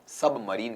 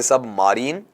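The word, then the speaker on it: submarine: दिया जाता है आपका सबमरीन कह दिया जाता है इसे सब मरीन या मराइन ऐसा नहीं पढ़ा जाएगा सबमरीन आगे वाले का उच्चारण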